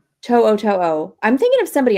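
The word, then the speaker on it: To'oTo'o: 2002. No, is that right? To'o.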